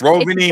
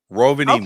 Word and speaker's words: Rovaniemi: This one took place, and also bear with me with the pronunciation of this Air Force. It's Rovaniemi. base. Rovaniemi.